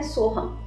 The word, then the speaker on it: सोहम: मंत्र ले सकते हैं सोहम। सोहम को कैसे बोलते हैं? सो हम यानी जो कुछ है वो मुझ में है।